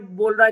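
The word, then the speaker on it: bow: example देख लेते हैं जैसे कि ये स्पेलिंग है बी ओ डब्लू एक का हम प्रोनाउंस करते हैं बाओ बाओ का मतलब होता है किसी के आगे सम्मान में झुकना जैसे कि रिस्पेक्ट में जब हम किसी के आगे झुकते हैं या सिर झुकाते हैं उसको बाव करना कहते हैं और दूसरी जो स्पेलिंग है उसको हम बोलते हैं बो बो का मतलब होता है हम बो पहनते हैं वो बो हो गया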